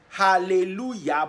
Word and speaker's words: hallelujah: J does not exist in Hebrew. There's no J sound in Hebrew. That is why you hear hallelujah, but it's spelled with J. The J is Y.